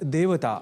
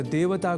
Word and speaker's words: देवता: मिल जाया करते हैं जो देवः को दवः और देवता को दैवता के रूप में भी अनवधानतावश लिख या बोल जाते हैं। संभवतः ए को ऐ समझने की दुष्प्रवृत्ति से ही ऐसा संभव होता है।